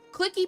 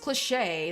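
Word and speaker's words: cliché: Clicky pronounced cliche is a French word.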